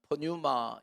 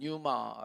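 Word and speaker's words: πνεῦμα: 한글로 번역된 헬라어 단어는 프뉴마 인데요 영어로 할 때는 피가 묵음 이라서 그냥 유마 라고 하는데 헬라어로 는 피가 있기 때문에 프뉴마 라고요 이영희 라고 한 걸로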